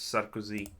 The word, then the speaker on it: Sarkozy: Also, that's not how you pronounce him. It's Sarkozy.